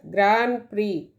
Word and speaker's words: Grand Prix: The word is pronounced as Grand Prix. It is a noun. It means one of a series of important international races for racing cars or motorcycles. Grand Prix.